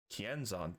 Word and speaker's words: Kienzan: Kienzan, that's how you say it.